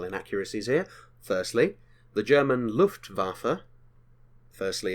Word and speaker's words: Luftwaffe: here firstly the German Luftwaffe firstly it's pronounced with a V in regards to the W not waffa waffa Luftwaffe secondly by that point